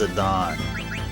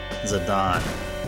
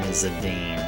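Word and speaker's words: Zidane: His name's actually pronounced Zadon. So that that's that's like a lifetime's amount of uh brain retraining I need to do. So Zi D A N E supposed to be pronounced Zadon. Zadon.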